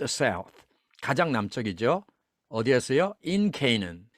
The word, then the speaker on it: Canaan: 가나안은 Canaan 이렇게 발음하죠.